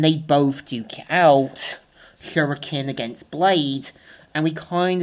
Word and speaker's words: shuriken: Showing how our histories are almost the same and Espio saying actually it's pronounced shuriken Amy.